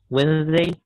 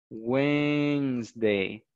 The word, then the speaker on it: Wednesday: Okay, in Spanish, es el miércoles, la D no se pronuncia, no se pronuncia ni la D, ni la E que está después de la N. Eso no se va a pronunciar. No se va a pronunciar la D ni la E que está después de la N. Entonces ustedes solamente dicen Wednesday. Wednesday.